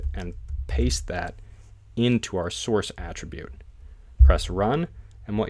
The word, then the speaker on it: src: a closing tag it uses an SRC attribute usually pronounced Source inside of there we